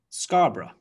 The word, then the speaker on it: Scarborough: So we have Scarborough, Scarborough, Loughborough, Loughborough, Peterborough, Peterborough, Farnborough, Farnborough.